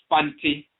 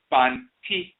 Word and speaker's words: Fanti: The name Fanti, pronounced with the T sound as in time by the Asante. However, amongst the Fanti people themselves, they say Fanti, so the T becomes a Z.